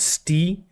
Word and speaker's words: Ste: Oh, you pronounce it Stee?